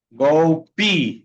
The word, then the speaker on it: golpe: Go P. Okay. Go P. Recuerden que cuando la e está al final de la palabra y no lleva acento, se pronuncia como i.